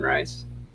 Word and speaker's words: Reis: I've heard it pronounced both Reese and Rice.